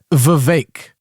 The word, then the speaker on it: Vivek: new level oh it's it's Vivek because it rhymes with cake you do we need